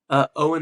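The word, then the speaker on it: Eoghan: Owen O'Flanagan. His No. first name is spelled like Eogan, but it's Yeah. just Owen. I think.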